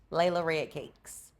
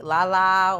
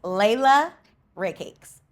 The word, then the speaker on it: Layla Red Cakes: They call me Lala, or they call me Lady Red Cakes, and I don't know where that came from, but it's Layla Red Cakes.